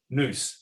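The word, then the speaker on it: νοῦς: as i mentioned before when there are two vowels pronounced separately together they often contract or form a diphthong and so in athens this became noose and everywhere eventually now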